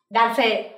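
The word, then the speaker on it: 男性: Ở đây Sensei sẽ có từ nam và chữ giới, mình sẽ đọc là dance, desne.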